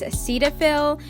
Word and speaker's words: Cetaphil: day by the way I know the correct pronunciation of this cleanser is Cetaphil but I say Cetaphil and